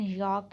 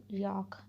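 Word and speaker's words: Jacques: इसकी correct pronunciation यॉर्क है, यॉर्क, because ये फ्रेंच हैं तो इनकी जो प्रोनाउंसिएशन है कुछ डिफरेंट होती है।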